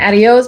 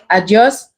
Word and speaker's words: adios: It's not adios, but it's adios, but it's spelled the same way.